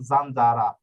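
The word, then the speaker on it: zanzara: অক্ষর হোক সমস্যা নাই জেতা অক্ষরের উচ্চারণ জ এর মত হয়ে যাবে মানে পিসিটি এফ এ না থাকলে হবে এই যে দেখুন জানজারা ঠিক আছে জানজারা এই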